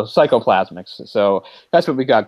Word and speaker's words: psychoplasmics: And Raglan calls this psychotherapy psychoplasmatics, or something along that line. Psychoplasmics. Or plasmics. I added an extra syllable, so psychoplasmics.